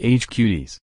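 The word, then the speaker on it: HQties: words he calls players a tease pronounced age cuties makes hilarious hand gestures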